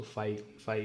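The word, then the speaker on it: phi: और दूसरा हम लोग फाई कहते हैं, इसको फाई प्रोनाउंस करते हैं।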